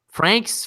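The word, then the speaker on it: Franxx: Frank so many question the last X is silent you don't pronounce as just Frank's how do you know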